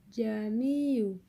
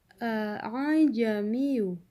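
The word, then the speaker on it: أأعجمي: Di sini terdapat dua hamzah yang dalam bacaan tasil hamzah pertama itu dibaca jelas dan pendek, kemudian hamzah kedua dibaca samar, tidak membacanya jamiyu, tetapi a'jamiyu.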